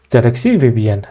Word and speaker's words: zxcvbn: from zxc vbn okay initially even I was it was difficult for me to pronounce this name but when